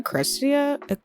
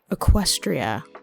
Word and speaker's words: Equestria: Or were people in Aristia? Equestria, that's how you pronounce it.